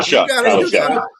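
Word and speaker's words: Shough: It's Tyler Shuck.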